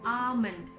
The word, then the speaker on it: almond: It's called almond and not almond or almond. The O is also silent as well as the L. So we pronounce it as a double A.